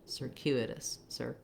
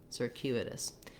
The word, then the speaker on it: circuitous: It's the same sound. It's still like sir, but we're just going to be fast. Here we have it long, circuit. Here it's fast, circuitous, circuitous. And then the it and us syllables both have reduced vowels, again with an I and a schwa. It, us, like the words it, us.